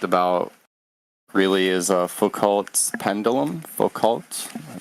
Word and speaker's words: Foucault: Foucault, am I pronouncing it correctly?